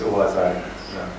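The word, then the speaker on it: Au hasard Balthazar: Now, everybody is making fun of that title because it rhymes, Au hasard, Balthasar. And Bresson said, I like that.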